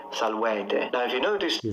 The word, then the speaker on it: salvete: That's not how I pronounce them. I closed them. So I went E, O, U for the long ones. You don't need to close them. You can open them.